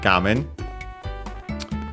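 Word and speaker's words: 画面: Gamen on its own is accented on the first syllable, so be careful. It's one of, despite being a Chinese compound, it's one of those that are accented there instead of being unaccented. Then we have the particle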